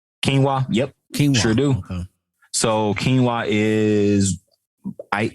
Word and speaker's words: quinoa: says robert do you eat um hope i'm pronouncing this right quinoa quinoa yep so quinoa is i eat quinoa as